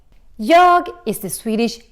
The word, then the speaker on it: jag: So, let's look a little bit closer to this jag. Jag is the Swedish I. And in Swedish, we have a tendency to drop the G in the end. We don't pronounce it.